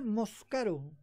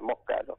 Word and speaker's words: Moscaro: Lo pronunciaba Moscaro, creo. Moscaro, se Sí, escribe y se sí. pronuncia igual, Moscaro.